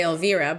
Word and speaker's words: Elvira: name is elvira right in spanish i would say alvirah but vira so so it probably is elvira because she was peruvian i'm 100 you okay